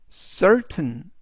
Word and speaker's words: certain: 그래서 이번 단어에서 t는 우리말로 튼 즉 전체적인 의미는 certain certain certain이라고 발음하시면 되겠습니다 품사는 형용사 뜻은 확실한이라는